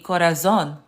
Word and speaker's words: corazón: But as you can see, as you can hear, the Z is pronounced like an S. Because if you remember, I didn't say gracias por mi corazón.